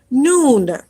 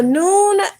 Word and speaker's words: Nun: The next final letter that we're going to study is a Nun.